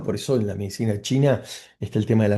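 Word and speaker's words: qi: tauísmo esta energía vital se llama qui, ¿si? o chi, o sea, es cómo se escribe, se escribe q i sin la u.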